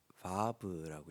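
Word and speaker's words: וָו: 오늘은 히브리어 6번째 알파벳, 이 알파벳을 vav라고 읽습니다. 그 VAV 해서 vav라고 읽는데, 이 알파벳이 뜻하고 있는 것은 못처럼 보이잖아요, 그렇죠?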